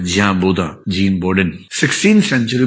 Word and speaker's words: Bodin: 16th century में gene बोदा नाम का आदमी, जिसको अंग्रेजी में बोडिन तरीके से लिखते हैं, BODIN, फ्रेंच उच्चारण इसका बोदा होता है, जियां बोदा, जीन बोडिन।